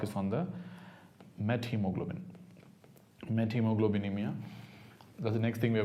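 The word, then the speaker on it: methemoglobinemia: going to talk is on the Met hemoglobin met hemoglobinemia that's the next thing we're going to talk about so when the moment you know about met I again told you don't pronounce as methods met hemoglobinemia met means changed hemoglobin so what is the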